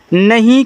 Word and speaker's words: know: लिखा है KNOW, देखो इसको नो पढ़ते हैं।